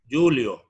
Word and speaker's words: julio: Si usted multiplica Newton por metro, va a obtener la unidad de trabajo mecánico que se pronuncia Julio. Algunos dicen Joule, solamente abreviado, Joule.